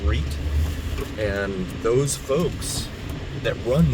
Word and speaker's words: REIT: It's pronounced REIT.